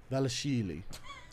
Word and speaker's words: Dvalishvili: Dvalishvili. Marab Dvalishvili. So you just don't pronounce the D? Mm-mm. Dvalishvili. You got that silent is he D.